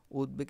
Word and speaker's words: উদ্বেগ: তার তিন নম্বর নিয়মে কি বলছে যদি আমরা উদ পাই এই যে রসু আর দ পাই দ পাই তাহলে এই দশে যে বটা থাকবে এই বটা এই বটা আর দ কে দ্বিত করতে পারবে না এই দ শুধু দ হসন্ত হবে যেমন কি উদ্বেল কি